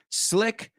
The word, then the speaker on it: slick: The one that you could possibly confuse if you mispronounce slick, it'll sound more like sleek.